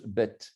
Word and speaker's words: Beit: Bet, un nom de lieu, on écrit Beit, mais on prononce Bet.